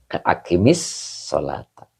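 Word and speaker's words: أقمِ الصلاة: Maka gimana cara baca yang benarnya ketika mudah untuk bacanya? Maka di kasroh. Gitu. Tidak pakai donmah. Akimis sholata. Jadi kalau fi'il, cara menghidupkannya dengan kasroh.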